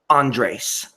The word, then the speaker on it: Andres: Andres. I don't care how Jed pronounces it. It's Andres.